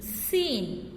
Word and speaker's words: scene: Next, the letter group SC sometimes makes a s sound. Okay, here letter group SC, it makes a s sound. SCIENCE. How we will read it? Signs, right? SCENE, seen.